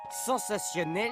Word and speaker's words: sensationnel: 6 des expériences ou attention je préfère vous prévenir sensationnel s'écrit avec un t comme souvent devant i ou i n comme dans natation ou martien notre ami est juste